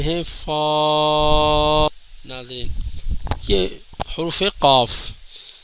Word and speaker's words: قاف: فا۔ ناظرین یہ حروف قاف، اس کے اینڈ کے اندر فا کی آواز نکلے گی، قاف، قاف موٹا پڑا جاتا ہے اور موٹے قاف